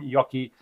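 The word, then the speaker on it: Joakim: Ghost Division by Sabaton, with apologies to Joachim Yoki Brodin, which is pronounced Uki.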